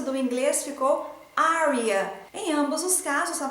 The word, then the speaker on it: Arya: Martin, o nome da Arya deve ser pronunciado em 2 sílabas e não em 3 sílabas como a série tem apresentado. Na pronúncia do português ficou Arya e na pronúncia do inglês ficou Arya.